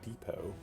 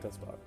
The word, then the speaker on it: Despot: How's that word pronounced? Because it's not Depot. That's the one with no S. Yeah, Despot. I think I've heard it pronounced Despot as well.